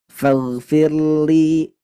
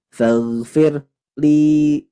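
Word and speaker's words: فاغفر لي: jadi ini juga sama fagfirli Firli nah tidak boleh fagfir li tapi dia ditekan fagfirli Firli dan Ingat tidak boleh dibaca tebal karena sebelumnya kasrah lanjutkan di sini ada mad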